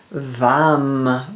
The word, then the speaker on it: vam: The one syllable Sanskrit mantra is vam with a V orange.